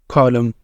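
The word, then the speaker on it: column: पास कुछ एग्जांपल्स है कॉलम atom तो यहां पे हम लम या लन नहीं बोलेंगे लम यह एन क्या है साइलेंट है यहां पर लम ऑटम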